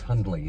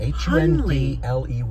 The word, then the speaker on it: Hundley: My middle name's Hundley. It was my grandmother's. What is it? Hundley. Hundley with a silent D.